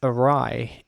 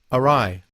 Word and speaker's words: awry: nationalities the word is awry a-w-r-i and the problem for me personally here is the W followed by R and Y of rye and that means away